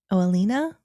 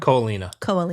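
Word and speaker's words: Ko Olina: Disney Vacation Club property in how do you pronounce it? In Kauai? No, it begins with an O. Oalina? I don't remember. Ko'olina.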